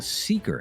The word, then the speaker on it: Seekr: It's called the Seeker app. That's spelled Seekr, and it has all kinds of exclusive audio that you won't hear anywhere else. News, music, and sports. You can download Seeker for iOS or Android.